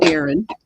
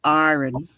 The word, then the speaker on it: Aaron: Like I say Aaron, and she said it was Aaron. I said, "No, it's not."